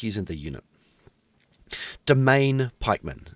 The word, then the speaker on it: Demesne: like using the unit domain pikeman it's the the name of this unit looks like demesne that word is pronounced domain this is a good